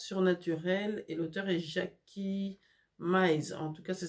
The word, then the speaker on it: Mize: C'est Naissance surnaturelle et l'auteur est Jackie Mize. En tout cas, ça s'écrit M-I-Z-E.